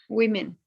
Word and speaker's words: women: Remember, the sound is we. Women.